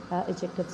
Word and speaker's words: adjectives: बोल रही हूँ adjectives, तो इसमें मैं D को स्लाइटली प्रोनाउंस कर रही हूँ. इसकी प्रोनाउंसिएशन एडजेक्टिव नहीं है. इसको एडजेक्टिव हम नहीं बोलते, हम इसको एडजेक्टिव्स बोलते हैं.